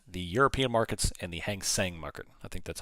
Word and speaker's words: Hang Seng: I monitor the German markets, the European markets, and the Hang Seng market. I think that's how you say it. Hang Seng.